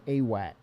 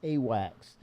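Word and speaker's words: AWACS: Um there is a true military ship called Awax, right?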